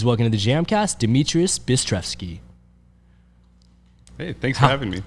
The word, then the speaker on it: Dmitrious: and obi-wan please welcome to the jam cast demetrius hey thanks for having me how was the pronunciation too far off no it was good